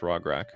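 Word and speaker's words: Rograkh: Yeah, it is pronounced Rograk.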